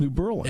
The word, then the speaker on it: New Berlin: But it's pronounced New Berlin.